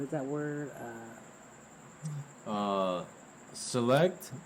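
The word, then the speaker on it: Sillect: that word uh uh select but it's spelled s-i-l-l-e-c-t Avenue yeah what's the number uh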